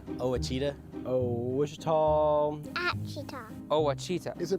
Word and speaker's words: Ouachita: How would you pronounce it? Ouachita. Ouachita. It's Ouachita Baptist University.